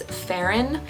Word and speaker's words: Ferryn: Kind of reminds me of like fairy.